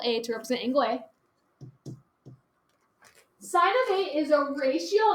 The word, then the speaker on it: sin: so how you notate sine is just s-i-n it's not pronounced sin it's pronounced sine okay that's how you